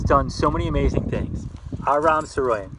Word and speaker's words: Aram Saroyan: Aram Saroyan, that's how you say his name.